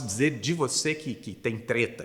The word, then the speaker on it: treta: Tem a orientação da pronúncia aí com E fechado, né?